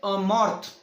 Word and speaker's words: MoRTH: And when we say MORTH or MORTH or MORT and H, I'll refer for better pronunciation. I will refer it as a Morth.